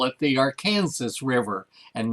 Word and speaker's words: Arkansas: hilarious because if you live in arkansas it's pronounced arkansas if you come here and look at our river we call it the arkansas river and not the arkhan arkansas river it's hard for people to grasp that this